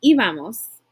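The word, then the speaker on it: íbamos: its Eva Eva Eva notice there's an accent on the eye in iva-mos just like there is in albums I could say yo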